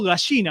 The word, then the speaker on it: gallina: o me gastan porque yo la doble L la digo como una SH, ¿viste?